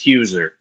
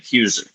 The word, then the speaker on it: Heuser: last name is pronounced Huer. Hey, I was So it's like my Yeah. Yeah. So I was like it's like cruiser but my actual last name. Huer.